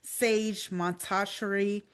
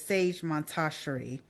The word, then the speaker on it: Sage Montasheri: Premier, Camper, Andre Harris, Sage Montasheri, Trombone Shorty, Eric Wortham, and D.W. Wright. Yes. I think I said Sage name wrong. It's Sage Montasheri.